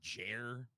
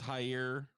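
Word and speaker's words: Jair: pronounce this first name is it just jer i think it's higher high okay higher bolsonaro on tuesday angrily denied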